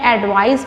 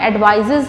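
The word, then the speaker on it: advice: का ध्यान रखना है जब आपने एडवाइस बोलना है उसके साथ आपने एडवाइज नहीं बोलना अगर आपको किसने ज्यादा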